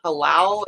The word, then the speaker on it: halal: Halal, is that the word?